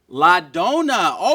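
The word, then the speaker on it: la donna: do you say the woman in Italian ladona ladona okay good job give her a hand guys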